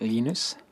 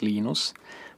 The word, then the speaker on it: Linus: When I speak Swedish it's "Lee-nus"; when I speak Finnish it's "Leen-ous"; when I speak English it's "Line-us".